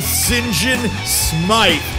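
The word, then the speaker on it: Sinjin Smythe: These guys reign out of London, Ontario, and they're called St. John Smythe.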